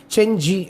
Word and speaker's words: Cenci: அவங்க இதை வந்து செஞ்சி அப்படின்னும் ப்ரொனவுன்ஸ் பண்ணணும்.